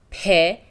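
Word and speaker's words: پ: persian letter is named pe and it is pronounced like p in english the form of the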